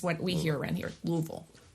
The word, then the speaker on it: Louisville: we hear around here Louisville two syllables Louisville um but we've